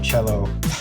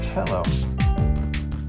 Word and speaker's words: cello: go uh with the cello I keep saying cello why do I do that jumbo box and if it were a cell box it' be pronounced cell not cello uh I am a